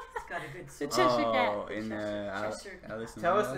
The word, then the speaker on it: Cheshire: typing Chester Cat and there's no, autocorrect, so it's spelled correctly. But it's not, it's the Cheshire.